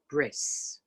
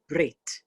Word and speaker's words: brit: that he learned that the tough without a dot and it's pronounced like a s and that's why brit became bris but it's really brit it is and so